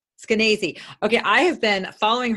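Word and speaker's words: Skenazy: you have met Leonor Eskenazi how do you pronounce her name actually it's canacee okay I have been following her since way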